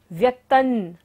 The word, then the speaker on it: व्यक्तं: व्यक्तन, त के ऊपर बिंदी है और बाद में क्या आ रहा है, त वर्ग, त थ द ध न। जब बिंदी के बाद होता है तो बिंदी का उच्चारण क्या होगा, न।